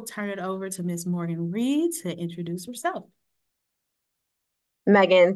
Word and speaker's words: Morgan: I always joke and say my name is Morgan rhymes with organ organ Morgan you can't forget my